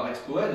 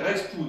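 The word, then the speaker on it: Rexpoëde: Puisque les Moers, tel que ça s'écrit comme Rexpoud, et on ne dit pas Rexpoed, on dit Rexpoud.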